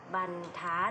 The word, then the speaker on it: บรรทัด: นี้ ค่ะ ข้อ แรก เมื่อ ระหาร อยู่ หลัง พยัญชนะ และ ไม่ มี ตัว สะกด ให้ อ่าน ออก เสียง เป็น อัน นะ คะ อย่าง เช่น คำ ว่า